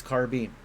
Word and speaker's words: carbine: Is it carbine or carbine? I feel like carbine is right, but I also feel like I'm probably mispronouncing it. Proper pronunciation of... It's carbine. God damn it. Carbine. Damn it. It doesn't feel like it should be bean. It feels like it should be bine.